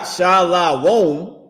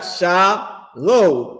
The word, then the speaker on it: Shalom: He got Sha, S-H-A, then he got Lo, L-O, and then M. He don't got Shalawon. He don't got S-H-A-L-A-W-O-M. He got Shalom, and then with an M. So the oppressor is pronouncing the word correctly, and fake Israelites are pronouncing it wrong because you didn't learn under commanding General YAHANNA.